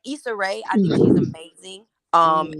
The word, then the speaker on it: Issa Rae: Lisa Ray has a show now? Mm-mm, No, mm-mm. Issa, Issa Rae.